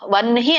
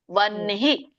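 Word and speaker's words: ವಹ್ನಿ: ವನ್ಹಿ ಅನ್ಬೇಕು. ಸೊ ಎಲ್ಲರಿಗೂ ಒನ್ ಹೇಳ್ತಾ ಇದ್ದೀನಿ ಮತ್ತೆ ವನ್ಹಿ ಅನ್ಬೇಕು ವಹನಿ ಅಲ್ಲ. ವನ್ಹಿ ಬಿಕಾಸ್ ಸಂಯುಕ್ತ ಹಕಾರ ಇದರ ಒಂದು ರೂಲ್ ಏನು ಉರಸ್ಯತಂ ವಿಜಾನಿಯಾತ್ ಎದೆಯಿಂದ ಬರಬೇಕು ಆ ಹಕಾರ ಎದೆಯಿಂದ ಬಂದಾಗ ಬರಬೇಕು ಅಂದ್ರೆ ನಾವು ಮೊದಲು ನ ಹೇಳಬೇಕು ಆಮೇಲೆ ಹ ಹೇಳಬೇಕು ವನ್ನಿಹಿ ಹೇಳಬೇಕು ಓಕೆ ನೋಡೋಣ ಈಗ ಮುಂದೆ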